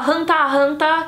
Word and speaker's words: Hunter x Hunter: Tem muita gente que fala Hunter versus Hunter, Hunter x Hunter, Hunter Tai Hunter, talvez alguém fale. Tem gente que fala Hanta Hanta, que é tipo uma pronúncia mais ajaponesada da coisa, mas eu falo Hunter x Hunter mesmo.